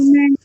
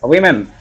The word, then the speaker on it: women: In our daily life, how do we pronounce Woman. women? But many of you might be, as I was up to, before learning this, I was talking as woman. But it's wrong, we pronounce it as women.